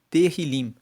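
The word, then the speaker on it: Tehilim: Tanto que o livro de Salmos, no texto original, no hebraico, ele se chama Terilim. Se escreve T E H I L I M e Terilim que significa louvores.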